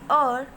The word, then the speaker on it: heir: ही कैन नॉट बी दी और टू the throne. मैंने आपको बताया था बेटा HEIR, ये H इसमें साइलेंट है, और बोलेंगे।